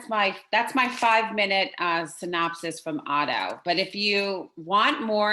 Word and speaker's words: Otteau: Excuse me, can you spell that name again? Otteau, it's OTTEAU.